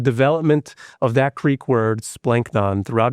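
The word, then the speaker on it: σπλάγχνον: Comes from the noun splanknon, right? And you got to say it like that because it's splanknon. Splanknon. It's got to come from deep within because that's actually like what the word means.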